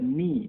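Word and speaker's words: knee: ठीक है, अब आइए यहाँ देखते हैं एक साइलेंट के कहाँ होता है, नी, नी आपने देखा होगा, घुटने को नी कहते हैं, और के यहाँ साइलेंट है।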